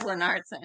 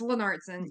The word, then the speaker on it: Lennartsson: But it is Lennartsson. Yes, Lennartsson.